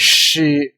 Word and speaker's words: 師: So that is basic form Xi, and in Cantonese, in Mandarin is Shi, Cantonese is Xi, and it's funny that